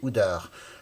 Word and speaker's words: Oudard: Frédéric Oudard, prononcé Oudard, est né à Paris avant de s'installer en haut d'une colline lyonnaise, la Croix-Rousse.